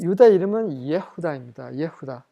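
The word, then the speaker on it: יהודה: 예후다.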